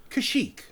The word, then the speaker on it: Kashyyyk: Not that you would necessarily need to know something like how to spell and pronounce the name of the Wookiee homeworld. KashyyYk.